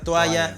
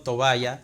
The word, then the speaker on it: toalla: parece bastante absurdo que alguien no pueda pronunciar toalla y que se termine aceptando toballa.